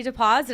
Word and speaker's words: Dapoz: up we've got Canadian girl and matchmaker sandy deposit I say it right oh absolutely because sometimes